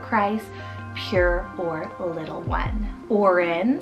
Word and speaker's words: Oren: Oren, spelled O-R-E-N, Oren, another wonderful nature name and like a O name.